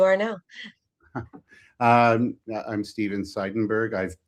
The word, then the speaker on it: Seidenberg: Um I'm Stephen Seidenberg. I've spelled my name wrong in the podcast in the podcast uh uh uh listing there. So, it's not Verg, it's Berg, but you know, whatever.